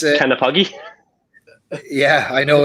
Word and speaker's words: Knappogue: And it's Knappogue.